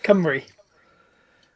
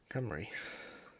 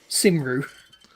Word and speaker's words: Cymru: Yeah, Cymru. Cymru. Cymru boat guy. Cymru boat guy. Okay. A lot of people will try and go Simru.